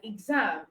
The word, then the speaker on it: exam: But for GZ, you have words like exam, exact. Okay.